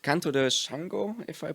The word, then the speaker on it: Xangô: called Canto de Shango, if I pronounce it correctly. Yes, Canto de Xangô. Yeah. Shango, nice.